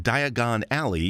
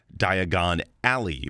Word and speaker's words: Diagon Alley: Considering Diagon Alley is a play on the English pronunciation of the word diagonally. This is why Harry mispronounces it, because he spent most of his life as a normal Brit. An American would say diagonal alley because our pronunciation of the word alley uses the short a vowel sound. The English pronunciation is a homophone of the name Ellie.